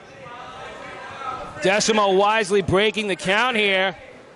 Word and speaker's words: Desamot: I need the long ones, Desamot now. The T is silent. The T is very silent, but there's nothing silent about that.